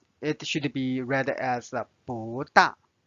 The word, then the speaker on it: 不大: Now you notice it's changed to the second tone because the next one is 大. 大 is the fourth tone, so it's not read as 不大.